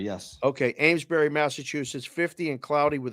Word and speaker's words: Amesbury: Amesbury, yes. Okay, Amesbury, Massachusetts, 50 and cloudy with a sea breeze.